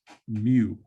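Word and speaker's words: μ: letter right here this is the greek letter mu it's pronounced just like the pokemon like mu2 so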